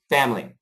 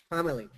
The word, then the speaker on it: family: Family. Family. Try it in 2 syllables. Get rid of the I.